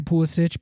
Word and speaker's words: Pulisic: I might just go back to Pulisic because that's how I had been saying it. And he said that that's how you say it, which is like the Croatian pronunciation of the name.